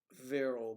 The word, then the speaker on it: Vero: Vero Beach. Vero. V-E-R-O. Vero. And it's pronounced Vero. Vero Beach. It's a Vero, and it's a lovely beach, I might add.